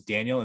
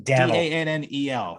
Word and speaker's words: Dannel: We thought it was Daniel. It's Daniel. Oh, yeah. What was he, the governor of? He was the governor of Connecticut for a few years. Yeah. Daniel. Dannel. I always thought when I saw like "Welcome to Connecticut," like governor, and it was like on the sign, I thought the sign was misspelled.